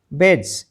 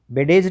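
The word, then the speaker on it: badge: बेज बी ए डी जी ई बेडेज नहीं पढ़ेंगे इसको। बेज एफ आर आई डी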